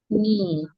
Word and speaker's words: knee: Silent K is usually silent after letter N, like in the word knee, night, no, etc.